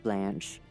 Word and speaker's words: Blanche: description entity 140 or blanch footnote pronounced like the French word blanch for further reference see